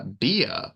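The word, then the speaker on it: Bea: gonna go with uh beia from hunk Papa B B B yeah yeah it's B like like B Arthur that's a fan favorite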